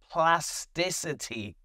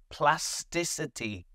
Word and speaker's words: plasticity: Plasticity. Plasticity. It comes from the word plastic. So you have to be careful. There is no k in this word. Plasticity.